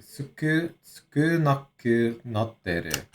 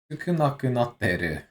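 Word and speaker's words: 少なくなってる: Sukunaku natteru. Which, here, let's just go ahead. Good, good. So that's how you pronounce it. Sukunaku natteru.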